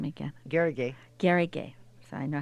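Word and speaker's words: Garrigue: Garrigay.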